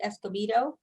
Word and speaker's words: Escobedo: Some people pronounce it Escobedo because of the B and the V sound in the Spanish name.